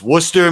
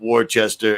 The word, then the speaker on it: Worcester: It's Worcester, Massachusetts, not Worcester, and it's Peabody.